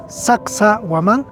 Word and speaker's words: Sacsayhuamán: Kung bibigkasin natin ito, Sacsa-Waman, Ang Sacsa ay nangangahulugang puno, sawa, o nasiyahan.